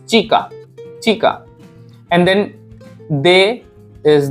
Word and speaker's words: chica: And che, sound of pronunciation of che is cha, and the girl in Spanish is chica, chica.